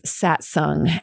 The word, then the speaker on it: Satsang: stoked to welcome drew mcmanus also known as satsung and yes that's how you pronounce it i asked him so now you